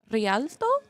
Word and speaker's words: Rialto: We are currently doing an escort, which is in Rialto. Roll your R's.